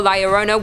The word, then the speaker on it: La Llorona: Hailing from Hispanic folklore, La Llorona, which I'm pronouncing correctly now after you guys yelled at me in a previous video, is also known as the Wailing Woman or even the Crier.